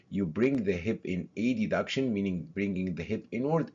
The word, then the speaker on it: adduction: inward, meaning adduction, adduction, but to make it obvious in the pronunciation, we say adduction, and you push backwards,